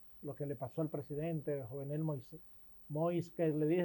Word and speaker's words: Moïse: Lo que le pasó al presidente Jovenel Moïse, que le dije, nosotros le decimos Moisés, pero ellos pronuncian Moïse, Jovenel Moïse.